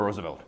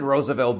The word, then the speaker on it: Roosevelt: is my president the Roosevelt right they pronounce it Roosevelt because it's a Dutch name it's a long story